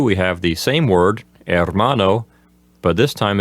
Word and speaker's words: hermano: we have the word hermano of course the H at the beginning is silent so number one will simply say brother in number two we have the same word hermano but this time it's